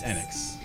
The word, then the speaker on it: Enix: One last question involving Enix. Has anyone ever played? I can never agree on how to pronounce that. Enix. It is Enix.